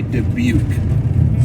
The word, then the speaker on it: Dubuque: DJ came on and he did say debuk so we have some confirmation on how to pronounce the city name that we've been doing it correctly it's a gloomy day